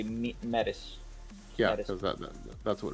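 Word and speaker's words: Métis: I mean, yeah, that's why I don't say medis, I say metis.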